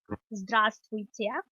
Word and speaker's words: здравствуйте: So the formal hello is здравствуйте, and this breaks down into syllables as здравствуйте.